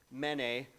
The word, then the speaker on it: mene: And briefly put, if you were to look at these as financial transactions and it were pronounce them out loud in Aramaic, the way you'd pronounce it is mene, or it's a note for 50 or 60 shekels.